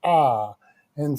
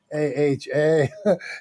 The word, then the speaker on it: Ah: Ah. And so when I first met him, I wasn't sure how to pronounce. I was like, Mr. A-H-A, A-H-A.